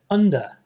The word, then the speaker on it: under: point in the word under important thing to notice is the vowel sounds at the beginning and the end of the word so as a Japanese